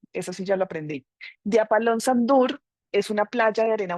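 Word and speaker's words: Djúpalónssandur: Otra parte, otra parada relevante es eh a ver si lo logro pronunciar, Diapalonsandur y porque la J suena como I, eso sí ya lo aprendí. de Apalón Sandur.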